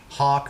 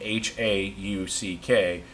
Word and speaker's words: Hauck: We don't know if it's Hawk or Hack or Hake. Yeah, and the most common mispronunciation of our last name, Hauck, is Hawk.